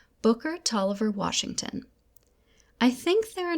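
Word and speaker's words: Taliaferro: me the name of Booker Tolliver pronounced Tolliver soon after I was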